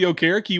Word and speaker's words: Okereke: That's how Bobby Okereke wants it said, and that's how he said is the correct pronunciation.